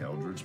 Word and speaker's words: Eldritch: Eldritch Blast.